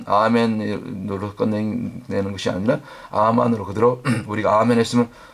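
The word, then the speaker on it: אָמֵן: 아멘으로 끝내는 것이 아니라 아만으로 그대로 우리가 아멘 했으면 원래 아멘의 발음 히브리어 발음이 아만 아만으로 살아내는 단계까지 순종의 단계까지 나갈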